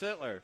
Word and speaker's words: Sittler: I was saying Sutter, and I'm like, it's not Sutter. But no, it's Sittler. Sittler. So is that? Sittler. You have to make sure we pronounce that correctly.